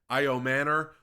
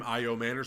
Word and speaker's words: Asamoah: Offensively, I mean, I'm very excited about Caleb Asamoah which y'all told me is the correct pronunciation of his last name, Asamoah.